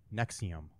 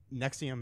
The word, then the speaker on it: NXIVM: was okay the um nexium is nxivm is how it's spelled it is a uh